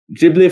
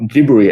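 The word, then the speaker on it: Ghibli: can really appeal to jibli fans or gibber as we found out is actually meant to be pronounced or gibber while also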